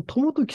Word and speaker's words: 朝時: で北条という朝に時と書いて朝時ですかねその時って読むんですけどもこの人の子供に当たる人がいるんですねそれが 3 つときって言うんですよこのトモトキさん言うたらあの